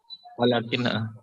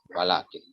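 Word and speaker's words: وَلَٰكِن: Tapi alif setelah lam ini hapus, hilang, ya, dihapus dia. Tapi dari pengucapan tetap ada dia. Walakin di mushaf juga harus harus baca. Walakin Rasulullah misalkan, ya, tetap harus dibaca dengan panjang.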